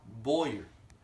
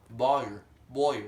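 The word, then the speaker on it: Bauer: John Boyer. That's a B-A-U-E-R. Boyer, whatever. From the South North. I pronounce it like that, so it's like that.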